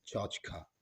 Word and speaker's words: tchotchke: तो क्लियर हो गया now talk about the pronunciation of that word so the pronunciation of that word is चौच का चचका एंड चचका चौच is pronounced in British English लेकिन ये word जो ज्यादा प्रे वेलेंट है जो ज्यादा ट्रेंडिंग है वो इनफॉर्मल अमेरिकन इंग्लिश में प्रे वेलेंट है और अमेरिकन इंग्लिश में इसे चौच क नहीं बल्कि चौच